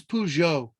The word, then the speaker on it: Peugeot: instance where a lion is invoked what is peugeot that's how you pronounce it he he inherited his uh parents